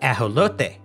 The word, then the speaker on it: ajolote: Pronunciation of their name varies regionally. In Spanish, the native language of their homeland, they are called ajolote.